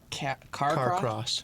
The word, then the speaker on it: Carcross: Carcross? Is that how you say it? Mm-hmm. Exactly the way it's spelled.